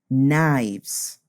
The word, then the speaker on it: knives: knife it is actually knives the pronunciation is similar with a V sound but we need to